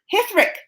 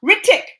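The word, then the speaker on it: Hrithik: So they said, and my boyfriend Hithrik, or wait, I said the name wrong. Ritik.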